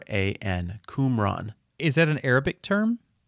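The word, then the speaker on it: Qumran: happens near this ancient settlement called kbet kumran kumran is what typically gets called it's not a big Community can you spell that please the first one starts with a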